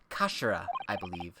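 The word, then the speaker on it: 頭: end of the hilt it's written as head in japanese but it's pronounced as kashira mr sogi's words really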